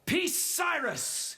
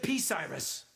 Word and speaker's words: Bucyrus: Bucyrus. No, Bucyrus. I thought you said P-Cyrus. No, Bucyrus. It's B.